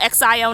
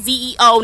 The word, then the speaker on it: Xio: If you guys don't know me, my name is Zo. That's spelled X IO, not Zeo, not nothing else.